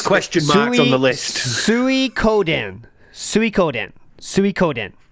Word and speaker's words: Suikoden: How is the name of that game pronounced? Okay, so I've got it as question marks on the list. Suikoden, right? Suikoden.